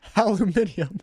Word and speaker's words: aluminium: Eminently, aluminium. Aluminium. That's how they say it in Europe.